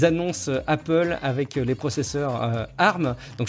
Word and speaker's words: ARM: Apple avec les processeurs ARM donc je prononce bien arm puisqu'on m'a déjà dit qu'il fallait pas que je dise arm donc je je me